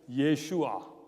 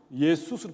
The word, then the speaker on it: 예슈아: 원래 예수님의 이름은 발음이 어떻게 되냐면 예슈아. 따라해 보세요. 예슈아. 그게 원래 예수님 이름이에요. 그런데 그것이 헬라어로 바뀌면서 예수스로 바뀌었어요. 헬라 사람들은 끝에다가 S자를 붙이는 게 아주 관습이 돼가지고 예수스라고 붙였어요. 그런데 문제는 뭐냐면 미국 사람이에요. 미국 사람들은 그걸 지저스라고 했어요. 제가 영어 배울 때 도대체 미국 사람들은 예수를 뭐라고 발음하는지 알고 싶어가지고 애를 썼는데 찾을 수가 없었어요. 너무 달랐기 때문에 예슈아에서부터 어디까지 갔어요? 지저스까지 갔어요.